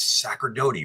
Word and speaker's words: Sacerdote: on like 5, 4, and she goes, "It's Sacerdote, right?"